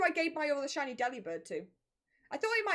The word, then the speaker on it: Delibird: His name's put it on delivered, so it's pronounced as Delibird. Delibird. Delivered. Delibird. Delivered. Delibird. Delivered. To me, that sounds the same.